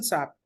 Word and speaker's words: SAP: It's not a word, it's an abbreviation, and abbreviations we never pronounce it as a single word.